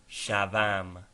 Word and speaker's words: shavam: The final v in shaw is pronounced as v before a vowel. Example, shavam indicative present.